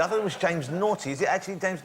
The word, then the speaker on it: Naughtie: I thought it was James Naughty. Is it actually James Naughtie? It's pronounced Naughtie, but it's spelt naughty. Naughty, isn't it? It's not knockety. It's like knockety knock.